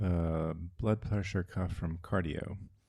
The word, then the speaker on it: Qardio: Yeah, I was gonna say I have a blood pressure cuff from Cardio. It's spelled QARDIO, and I got it because I